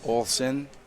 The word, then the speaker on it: Olsen: Oh, I pronounce it like O-L-S-I-N. Olsen.